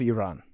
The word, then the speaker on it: Iran: You gotta roll your R. Iran. Oh, well, now that's expert mode. Yeah, being accurate. So, Arian, you would actually, I feel like you would love Iran.